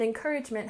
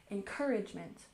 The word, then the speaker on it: encouragement: And encouragement has stress on the second syllable. Encouragement. Encouragement. So encouragement is optimism or